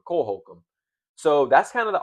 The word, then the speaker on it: Holcomb: And you obviously got, I think this is Cole Holcomb. I didn't want to say his name wrong. Cole Holcomb.